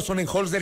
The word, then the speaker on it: Sonnenholzner: A Otto Sonnenholzner, yo sí pronuncio bien el apellido del candidato. Otto Sonnenholzner Esper, candidato a la presidencia de la República por la Alianza Actuemos.